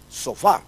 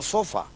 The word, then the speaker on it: sofá: en la última sílaba, porque la palabra es sofá, no sofa.